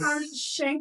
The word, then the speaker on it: Khyran Shank: Pronunciation. Yes. Khyran Shank, y'all.